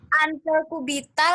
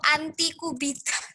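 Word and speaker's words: antecubital: Antekubital apa antekubital atau antikubital? Karena aku Sudah hafal takutnya salah ngomongnya. Ante. Antesubital. Iyo Ante. Subital. Si. Ante. Dikasih tahu masih nanya iyo Cayo tanya Putri. Oco tuh lah. Ini bacanya siapa? Kak. Antesubital. Sudah. Ante. Jadi bacanya yang bener yang apa? Ante sudah sel ante aku lak nama wong dah. Ante kubital berarti ante kubital dan ante brasial.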